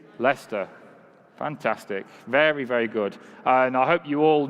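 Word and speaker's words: Leicester: to say it together okay 1 2 3 Lester fantastic very very good and I hope you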